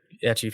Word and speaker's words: ecchi: Well, I assume if they are big ecchi fans, they've already seen it. Oh, yeah, you're right. Is that how you say it, ecchi? That's how I say it. Oh, I've always said ichi, but like, I don't know.